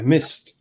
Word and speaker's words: MyST: Yeah, MIST. I always pronounce it MIST.